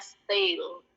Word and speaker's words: stale: Bacanya stale. Kayak ada huruf I-nya sebelum L, jadi kalau teman-teman mau nulis cara bacanya itu style gitu bacanya. Cuman lebih cepat aja.